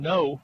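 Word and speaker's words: Ngo: Big ball carrier straight away head running is going to be taken by No. And that's how his name's pronounced. It's like N-O, and No. Spelled N-G-O, but it's pronounced No.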